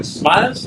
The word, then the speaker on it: Smailz: So it Smailz, and that's the spelling, but the pronunciation is still the same.